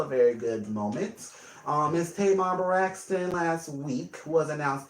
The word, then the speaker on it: Tamar: Miss Tamar Braxton last week was announced the winner of Celebrity Big Brother. So it was Tamar, right? Tamar. I think I was calling Tamara earlier.